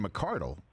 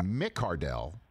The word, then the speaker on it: McCardell: conundrum for me than when Keenan McCardle said he was, yeah, McCardell, and I'm like, first of all, where does that come from? And secondly, how dare he mess me up? That's a three-syllable situation.